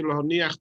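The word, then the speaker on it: להניח: You may sometimes hear when people say the bracha, they say lahoniach tefillin, to emphasize the lamed. That's the correct way to pronounce it.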